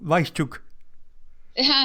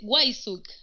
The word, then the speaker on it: Wajszczuk: ¿Cómo lo dicen en argentino? Weisschuk. Se van a reír en Polonia. Es Wajsuk, Weisschuk, porque claro. aquí la W se pronuncia como una G.